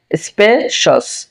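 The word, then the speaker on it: spaces: স্পেশস স্পেশস, এটা কিন্তু শ্বাস হবে না, সঠিক উচ্চারণ হবে স্পেশস স্পেশস।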